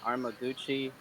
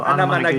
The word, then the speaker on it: Anamanaguchi: It's like Arma something Armaguchi. Oh, Anamanaguchi. Anamanaguchi.